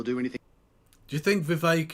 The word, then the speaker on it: Vivek: Do you think Vivek, it rhymes with Cake Ramaswamy, supports all of this public spending that you're outlining here?